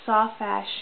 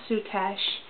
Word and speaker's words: soutache: It's pronounced Soutache in Canada and Great Britain, but in the U.S. it's called Soutache.